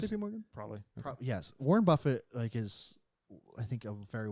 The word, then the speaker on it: Buffett: Yes, Warren Buffett is, I think, a very well regarded person. It's pronounced Okay.